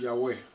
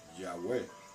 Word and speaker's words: Yahweh: Y la pronunciación correcta de su nombre es Yahweh. Yod, He, Bau, He. Yahweh.